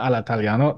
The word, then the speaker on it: all'italiano: Hello, everybody, and welcome to Cinema Italia, a podcast which is reveling and celebrating in everything all'italiano, cinema all'italiano, or cinema all'italiano, to give it the correct pronunciation.